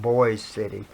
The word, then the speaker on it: Boise City: We stayed at a motel in Boise City, which is spelled Boise, but it's pronounced Boise City, and so I had been there on that trip, but it was so much.